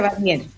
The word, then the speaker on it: Warnier: apellido bien está bien se pronuncia barnier barnier Perfecto Bueno Isabel